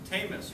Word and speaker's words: Tamas: icebreaker speech uh by tamus rhymes with famous that'll always stick in